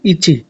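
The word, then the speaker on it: いち: এটা হচ্ছে ইচি। ইচি মানে হচ্ছে এক।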